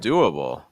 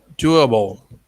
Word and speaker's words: doable: group with you with doable doable doable bull sounds a little tight like bull versus ball okay see yourself but again